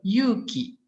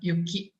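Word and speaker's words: 勇気: students too spelled the japanese word yuuki courage as yuki snow so the vow is short this era appears to be a phonetic interference caused by the students first language as wars are usually pronounced shortly in malay except when they are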